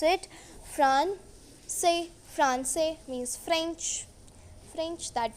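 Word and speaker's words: français: We say Francais. We pronounce it Francais.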